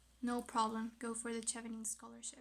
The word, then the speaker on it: Chevening: to your country, no problem, go for the Chevening scholarship. It's actually pronounced But Chevening.